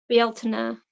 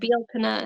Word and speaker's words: Bealtaine: 20th, and then mhm, Bealtaine is because this is based on, like, Gaelic pronunciations, it looks mhm, like Beltane, but I mhm, think there's different people says different ways, but yeah, mhm. Bealtaine is, I think, how you're supposed to say it, but, I'll never say